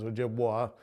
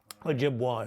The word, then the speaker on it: Ojibwa: Okanagan, the Onondaga, and the Ojibwe, although since most people pronounce the vessel as Ojibwa, we say Ojibwe are the people. Ojibwa is the vessel.